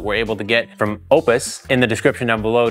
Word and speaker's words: Oupes: is legit and it's it's pronounced Opus we're calling it oops though welcome back